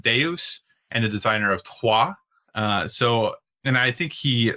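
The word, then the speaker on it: Troyes: if you try to look up the game tois is t ro y es but that's how you pronounce it just like Selenia is soo le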